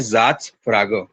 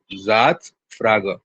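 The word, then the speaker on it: Satzfrage: Pronunciation क्या है इसकी? देखो जर्मन लैंग्वेज में इसे बोलते हैं ज़ात्स फ्रागे, ज़ात्स फ्रागे।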